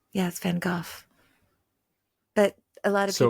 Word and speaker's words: Van Gogh: It's a Dutch name, it's a Dutch guy.